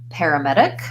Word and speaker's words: paramedic: becomes a flap perimeter and then paramedic different syllable stress pattern pear and here we just kind of start with the air so we're going to have secondary stress there paramedic main stress on med so just like the